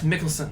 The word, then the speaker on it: Mikkelsen: We may be pronouncing that wrong. I think it's Mickelson.